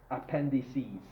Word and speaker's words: appendices: Appendix is actually, the plural is actually appendices.